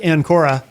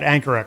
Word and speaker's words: Ancora: Uh if you're just joining us Jack and Kora.